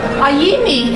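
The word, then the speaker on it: Aimee: I said, but it's spelled A-I-M-E-E. Amy usually is spelled A-M-Y. I said, maybe it's a Japanese rendition for Aimi. And I said, does that sound Japanese? He says, yes. Aimi, especially the Mi, is a very popular name for Japanese girls.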